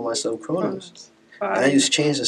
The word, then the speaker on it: Krnos: It's still Krnos. Oh, the O is silent.